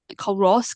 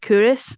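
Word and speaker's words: Culross: filmed in curus um I grew up call K Ross because that's just visually what that that word looks like but it's pronounced cus and it's a really it's one of these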